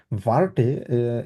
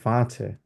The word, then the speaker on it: Warte: প্রথমত হচ্ছে রাজীব ভাইয়ের ক্ষেত্রে ভার্টে, এটা আসলে হ্যাঁ, মানে প্রোনাউন্সিয়েশনের ক্ষেত্রে কোনো ভুল নাই, কিন্তু সাধারণত ভার্টে কেউ বলে না, ঠিক আছে? এটাকে বলা হচ্ছে ভাঁচে, কারণ আরটা এখানে সফটলি উচ্চারণ করা হবে, ভাঁচে।